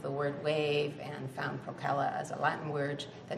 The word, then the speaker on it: Procella: like, and I don't even know if I pronounced them right, so I don't know. It's the hat and the fingerless mitt set. Procella, that's how it is.